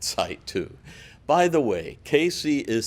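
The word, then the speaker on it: Cayce: we own that site too by the way casey is spelled the french way c-a-y-c-e check us out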